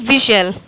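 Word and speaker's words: whistle: क्या पढ़ेंगे इसको विजल तो इसमें एच साइलेंट हो जा रहा है और क्या साइलेंट हो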